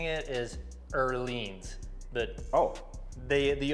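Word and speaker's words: Öhlins: before I start coming to oans I said olens Joy's like no it's oans it's oans right wa the actual proper Swedish way of pronouncing it is earin but oh the the o with the two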